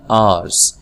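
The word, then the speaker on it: hours: तो यहाँ पर आवर्स का जो लफ्ज़ है इसके अंदर एच नहीं पढ़ा जाता, एच साइलेंट होता है, ठीक है। तो आप इसको पढ़ते हैं आवर्स।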